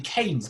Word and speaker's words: Keynes: His name is a bit hard to pronounce, actually, Keynes, because it's spelt a little bit like key, isn't it? But you don't say it like key, you say Keynes. Sorry about that. Annoying English names.